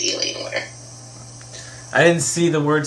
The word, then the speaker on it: Alienware: You said Alienware, like you broke the words up. Usually we just say Alienware.